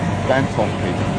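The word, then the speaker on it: Dantomkia: Dan Tom Key. Dan Tom Key. Daniel, Thomas, Kira, my three children.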